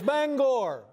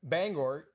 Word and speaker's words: Bangor: Yeah, it's Bangor. All right. Bangor. And for the longest time, I thought it was Bangor.